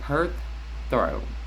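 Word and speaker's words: Perthro: So the pronunciation is perth throw.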